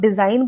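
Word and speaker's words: design: आपको पता ही चलेगा की जी भी होता है स्पेलिंग में जब डिजाइन बोलते हो तो अगर आपको ये शब्द का स्पेलिंग नहीं पता है तो आपको ऐसा लगेगा की जी इसमें कहानी उसे हुआ ही नहीं है वो आपको ऐसा क्यों लगता है क्योंकि जी जो है वो इसमें साइलेंट है डिजाइन है ना इसमें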